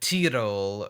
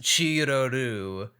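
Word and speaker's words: チロル: My Crunchyroll sub said T-Roll. I think they tried to pronounce it like Tiroru, but that, cause I looked up, that's her romanized name in English, but in Japan it's pronounced Chiroru with the three syllables.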